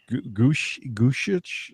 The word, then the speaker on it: Gorsuch: Originalist Neil Gorsuch. How do you say his name? Gorsuch.